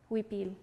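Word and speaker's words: huipil: I called it a weepy you so that is spelled h UI PIL weepy it's a traditional indigenous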